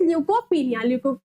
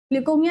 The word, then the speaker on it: leukopenia: सो the correct answer is decreased WBC count is ल्यूकोपिनिया। ल्यूकोमिया नहीं है बच्चों, यहाँ पर दैट इज स्पेलिंग थोड़ी मिस्टेक हो गई है, ल्यूकोपिनिया।